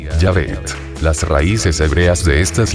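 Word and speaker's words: Yahvé: sin las vocales correspondientes en español el equivalente más apropiado sería yavet las Raíces hebreas de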